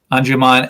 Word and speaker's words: Anjuman: from and you say this woman uh nadia anjuman am i saying it right yes um anjuman and her uh poem you describe it as